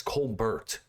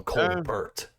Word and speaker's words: Colbert: I'm going to start calling him Colbert. I guess it depends what nationality your name comes from, because different. What nationality do you don't pronounce T's? French.